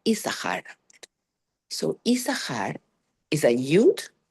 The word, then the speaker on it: Issachar: them is the name Issachar. So Issachar is a Yud, Shin Shin is and Chaf and Resh, okay? So we only pronounce the first Shin.